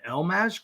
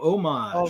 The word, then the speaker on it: homage: It is homage. H. It looks like homage. People have actually said homage before.